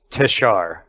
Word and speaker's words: Teshar: It's Teshar. Teshar. Hard R is the end of everything here.